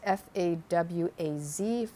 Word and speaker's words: Fawaz: saw from the title george michael and foddy fawats i think that's how you pronounce it f-a-w-a-z fawaz he dated him from for four years